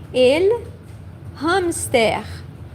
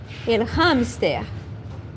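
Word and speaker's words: hámster: English lumpster lost Now, usually the H is silent in English uh I mean sorry in uh Spanish and Portuguese but here we are going to pronounce the H. Okay. El hamster. El hamster.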